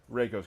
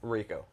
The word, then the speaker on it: Reiko: you some characters today reiko's coming Raco race did I say it right you said it wrong um got him Reiko